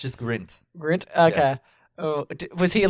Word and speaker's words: Grint: was pronouncing it wrong the entire you kept pronouncing it grinch yes it's just grint grunt okay oh was he like no no